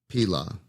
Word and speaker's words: Pilah: Pilah. Yeah, that's how you say it.